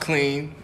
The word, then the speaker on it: Qlean: significance behind it so it's pronounced clean like the regular word claim but it's just